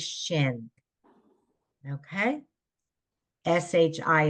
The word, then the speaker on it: shin: sh there you go it's a sh the letter is shin okay sh sh i